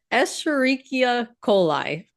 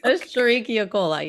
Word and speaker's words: Escherichia coli: How do E- you pronounce the full name? Escherichia coli. Okay, I've been saying Yeah. Escherichia, so that's good to know. Escherichia, Esch, Esch- Escherichia coli. Okay, Escherichia coli, yes. heard.